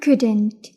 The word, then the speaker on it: could: Could and couldn't. In present we say I can. أنا أستطيع. النفي منا can't. I can't. أما الماضي من كان هو could. ال لا تلفظ. could.